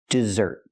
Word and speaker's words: desert: abandoned his family remember the stress is on the second syllable dessert pronounced just like the